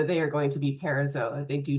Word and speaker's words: parazoa: If they do not have true embryonic tissue, they are the parazoa. Zoa, remember, pronounce every vowel.